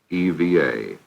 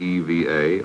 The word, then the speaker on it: EVA: word to their vocabularies Eva it stood for extra vehicular activity some were uncertain whether you said Eva or Eva but regardless of the pronunciation it would become an